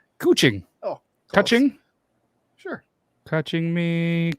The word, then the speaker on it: Kuching: Did you say Coochie? Kuching.